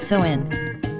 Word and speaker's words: Samhain: date back to the ancient Celtic festival of Samhain pronounced so in The cells who lived 2,000 years ago in